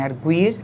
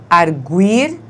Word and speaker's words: arguir: Então, agora nós simplesmente temos de saber que arguir, não é? Faz com que o U tenha som fraco, mas na forma ele argui, o U tem o som forte, não é?